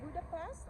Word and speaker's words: Budapest: yes finally in budap how do you pronounce it Budapest or budapes budapes the second yeah ah budapes yeah yeah